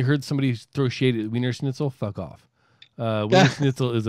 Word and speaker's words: Wiener Schnitzel: It's actually pronounced Wiener Schnitzel.